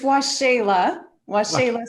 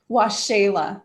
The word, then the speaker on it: Waxela: How do you say it? Waxela. Waxela. So it's like the Spanish language. Yes, it's Mayan. Mayan.